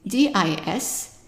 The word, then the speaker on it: dis: And then the next word is DIS, and the I is pronounced as an E, and the S is silent, so it's di, di.